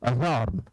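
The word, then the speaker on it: adjourn: अजॉर्न, एडजस्ट, adjustment, अज्वाइनिंग न बोले, एडज्वाइनिंग, एडजस्ट, adjustment, adjective ऐसा कहना गलत है। एडीजे में डी साइलेंट होता है।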